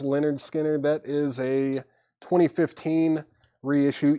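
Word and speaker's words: Lynyrd Skynyrd: shrink VG copy 999 Leonard skinnard pronounced Leonard skinnard that is a 2015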